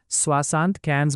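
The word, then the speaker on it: soixante-quinze: और दूसरी तरफ फ्रांस में बोली जाने वाली ओरिजिनल फ्रेंच में 75 को स्वासांत कैंस बोला जाता है, क्योंकि यहाँ 60 में 15 जोड़कर 75 बनाया जाता है।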